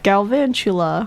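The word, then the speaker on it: Galvantula: Van Van chu chu la blah say it galvan Chula there we go and what does that mean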